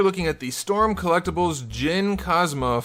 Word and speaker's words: Jin Kazama: at the storm collectibles gin cosma from tekken 7 or if you were me as a kid jin kazama which is not how you pronounce that name and this guy is